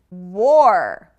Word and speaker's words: war: War. That's kind of a difficult sound to make, but or. Think of the word or, and or.